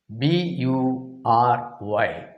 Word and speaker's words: bury: this word is very as if the spelling is b-e-r-i that's a kind of